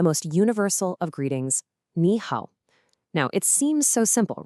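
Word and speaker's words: 好: The second character is hao, pronounced hao, which means good or well or fine.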